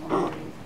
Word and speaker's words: McGroarty: I heard a little bit, and I don't know much about, I guess his name is pronounced McGroarty.